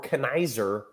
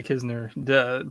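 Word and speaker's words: Knizner: Like, if you want to be called Kisner, you can't put the N there. Like, this is just how letters work. It is very confusing, but it is Kisner.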